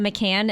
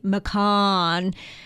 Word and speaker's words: Macan: for this vehicle and I keep calling it The McAn and I had somebody on Tik Tok go it's called the mcon so I know I'm pronouncing it incorrectly but I'm going to